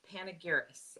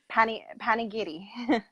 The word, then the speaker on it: Panigiris: So you guys, this is Krista Panigiris. Am I saying that correct? You know what? I've heard it wrong so many times that I don't even know how to say it anymore. Panigiri.